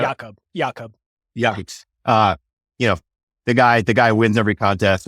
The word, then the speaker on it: Jakob: And it seems like a lot of those Olympians, like Yakov Schubert, who we were just talking about, mispronouncing his name. Is it Jacob or Yakov? Do you know? Jakob.